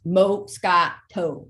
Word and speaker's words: Moscato: one thing really cool that she chose the Moscato wine Tanya is you know the Moscato and it's pronounced Mo Scott toad okay but it is really it is an